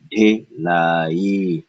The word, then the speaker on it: ढिलाई: E, ढिलाई, ढिलाई, ढिलाई, ढिलाई, ढिलाई, ढिलाई, ढिलाई, ढिलाई, ढिलाई, ढिलाई, ढिलाई, ढिलाई, ढिलाई, ढिलाई, ढिलाई, ढिलाई, ढिलाई, ढिलाई, ढिलाई, ढिलाई, ढिलाई, ढिलाई, ढिलाई, ढिलाई, ढिलाई, ढिलाई. First syllable, duh. Here, retroflex, duh.